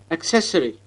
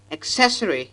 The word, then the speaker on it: accessory: Accessory. Here, the stress should be on the second syllable, not on the first. The first sound is a centralized short vowel, so accessory is the right pronunciation and not accessory.